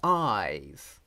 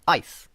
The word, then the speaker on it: eyes: it's completely unnecessary okay it is a voiced consonant it must be because the vowel is pronounced love it's eyes it's not ice but that doesn't mean